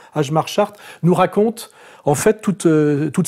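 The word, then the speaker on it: Hjalmar Schacht: Et ce qui est intéressant, c'est que ce monsieur qu'on prononce Ajmar Chart, n'est-ce pas, enfin, qui s'appelle comme ça, mais ça se prononce Chart, oui, Ajmar Chart, nous raconte en fait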